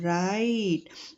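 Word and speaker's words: write: राइट आर आई [नाक से की जाने वाली आवाज़] टी ई डब्ल्यू आर आई टी ई राइट। यहां पे डब्ल्यू जो है वो साइलेंट रहेगा।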